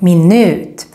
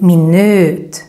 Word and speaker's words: minut: to English minute but very very different in pronunciation because in Swedish when we have a vowel with just one consonant coming after like in this case then the V gets extra long so that's why we